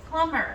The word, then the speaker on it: plumber: No, the B is silent, so it's plumber.